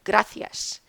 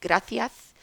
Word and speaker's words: gracias: And this particular video was from Sevilla, where the soft C is pronounced just like the S, but the ending of the word is often chopped off. So the woman actually said gracia.